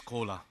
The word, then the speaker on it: Koura: Just on the stage, another collaboration is coming because my name is Koura. Everybody can understand. Huh? This is exactly same pronunciation of Coca-Cola.